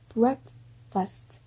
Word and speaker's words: breakfast: 다음에 breakfast. 자꾸 breakfast 하신데 black이 아니라 이거 R 발음이에요.